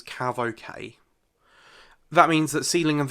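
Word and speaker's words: CAVOK: if you ever see the letters c8v okay and that's usually pronounced as CAV okay that means that ceiling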